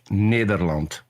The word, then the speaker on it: Nederland: Peter, what is the correct pronunciation of your country name? The Netherlands if you want to do it in Dutch, Nederland.